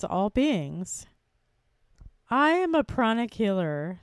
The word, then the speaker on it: pranic: beings I am a pronic Healer spelled p r a n i c many people think I say chronic like CH it's not CH it's p r Prana pronic healing and I have studied